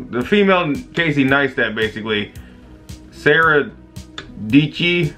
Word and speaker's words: Dietschy: Sarah Dietschy, rhymes with Peachy or something like that.